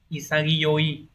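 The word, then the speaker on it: 潔: Hán là chữ khiết từ này đọc là isagi isagi Yi có thể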